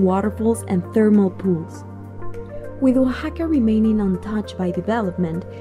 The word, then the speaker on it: Oaxaca: in mexico in case you were wondering it's pronounced oaxaca there are so many exciting things to do